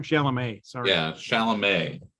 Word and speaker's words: Chalamet: Yeah, did I say his name wrong? Chalamet.